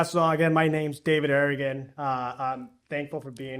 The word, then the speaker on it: Arreguin: for the invitation and for getting my last name right. You got to roll your Rs. You know how to roll your Rs. Uh yeah. So again, my name's David Arrian.